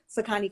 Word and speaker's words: Sakani: um the name is jess so i am pronouncing it correctly sakani candles correct okay yes perfect yeah i i